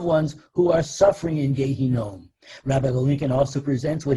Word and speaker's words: Gehinom: Gehinom, also known by its Yiddish pronunciation, Gehenna, is the Jewish term for hell.